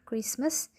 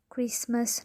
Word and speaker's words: Christmas: example when we read the word christmas the letter t is not pronounced so we will read it christmas not christmas the second memory when